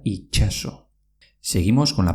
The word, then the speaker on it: itxaso: En euskera mar se dice itxaso, pero se pronuncia itxaso.